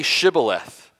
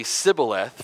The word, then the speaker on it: Shibboleth: say to him then say Shibboleth and he would say Cybil a--the for he could not pronounce it right and then they would